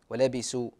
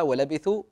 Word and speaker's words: ولبثوا: الله قراءه جميله بس احرص عاد في الثاء انك تنطقها ثاء يعني بعض الناس ينطقونها سين ولبسوا لا نتعود عليها ولبثوا لابد ان تكون قراءه